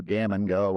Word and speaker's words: Gammon Geaux: ends in e aux is pronounced o, like a long o, right? We just kind of seized on, you know, gammon go obviously is a common bag gammon term.